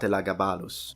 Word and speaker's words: Elagabalus: I mentioned absolutely not elagabalus yes that's how you pronounce it in Latin now talking about the